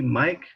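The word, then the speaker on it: mcg: measurement the mic okay it is a my C Mike for the microgram okay that's why we pronounce it Mike so for Mike's two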